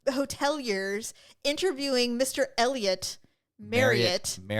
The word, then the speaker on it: Marriott: It's Marriott."